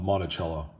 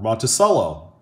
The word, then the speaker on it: Monticello: in the middle of Monticello or Monticello so I'm gonna say it both ways for you guys because